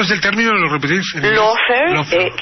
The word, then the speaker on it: lawfare: Lawfare, y se escribe L-A-W como ley, como law. Claro. Y fair, F-A-R-E.